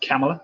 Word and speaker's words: Kamala: the united states that's kamala harris kamala harris it's pronounced camella apparently the news networks were